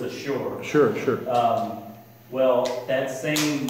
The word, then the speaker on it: Ashur: You're talking about Assyria in English and how in Hebrew it's Ashur.